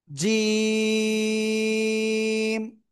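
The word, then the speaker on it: جيم: এ অক্ষরের নাম কি জিম তিন আলিফ টান হবে তো কোন জায়গা থেকে উচ্চারিত হবে এটা উচ্চারণ হবে জিহ্বার মধ্যখান তার বরাবার উপরে তালুর সাথে লাগিয়ে উচ্চারণ করবেন জিম ঠিক আছে প্লিজ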